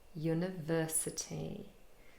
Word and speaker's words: university: So we have university, 5 syllables. The main stress is on the, containing a long vowel sound. And we have a lot of unstressed syllables, but also secondary stress. And you might have spotted it if you remember that a lower vertical line shows secondary stress. Yes, it's in the first syllable. So you has secondary stress, the has the primary stress, and then n and then city are all unstressed.